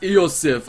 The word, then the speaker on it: Iosif: It is pronounced Iosif.